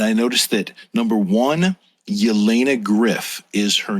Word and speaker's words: Jelena: cogner her real first name is Jelena pronounced Elena okay so here's what